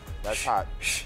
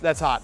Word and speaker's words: Sh' That's Hot: That's hot. That's hot.